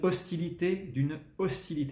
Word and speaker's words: hostilité: Les prémices d'une hostilité, c'est un H aspiré, hein, c'est pas un H muet parce que ça vient du germanique.